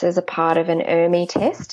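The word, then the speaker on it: ERMI: a part of an army test and Amy is spelt er mi and an Amy test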